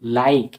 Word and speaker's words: like: করে দিছে নেম এরকমভাবে মেক লাইক এল আই কেই লাইক এখানে মানে ই পুরোপুরিভাবে সাইলেন্স কিন্তু আইটা আই মানে আই লেটারটাকে লং সাউন্ডে পরিণত করেছে তাই উচ্চারণ হচ্ছে লাইক এখানে লিক উচ্চারণ হচ্ছে না সেরকমভাবে টাইম তো উচ্চারণে